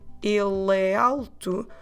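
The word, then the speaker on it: ele alto: saying all the letters but when we try to do the masculine e alto when we run it together il tu we drop the last letter of the word ill so we drop the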